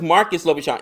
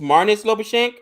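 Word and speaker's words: Marnus Labuschagne: wow that's impressive mares I thought it was Marcus lashan it's mares lashen mares yeah my apologies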